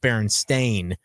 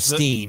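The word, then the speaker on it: Berenstain: It's actually spelled as if it were pronounced Baron Stain. A I N instead of Steam and there's um there's the I used to love that book.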